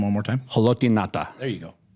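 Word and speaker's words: Ngata: Can you pronounce that last name one more time? Haloti Nata.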